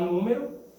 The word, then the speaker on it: número: A sílaba tônica é umé. Por quê? Porque ela não tem acento. Se eu quiser falar número, eu vou colocar o acento.